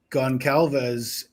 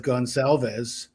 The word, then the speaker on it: Goncalves: is she pronounces Goncalves instead of Gonalves. And I thought that Steve and and the family have all referred to themselves as with a soft C. Gon Gonalves, not Goncalves, with a hard C.